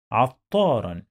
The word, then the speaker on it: عطارا: تنوين بالفتح when we find two fathas on the top of the last letter followed by alif and this alif is not pronounced like long vowel alif. عطارا.